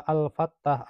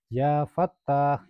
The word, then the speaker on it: Ya Fattah: Jadi bukan dibaca Al-Fattah, Al-Fattah, Al-Wahhab, Al-Wahhab, Ar-Razzaq, Ar-Razzaq. Bukan begitu, tapi membacanya Ya Fattah, Ya Fattah, Ya Fattah,